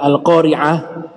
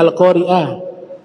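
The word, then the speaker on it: القارعة: hurufnya nya juga salah dibacanya alqoriah yang betul pakai Ain al-qoriah itu hari kiamat benar Mungkin yang dimaksud Hamzah dalam al-qur'an tidak pakai Hamzah pakai Ain nah ini ya ditujukan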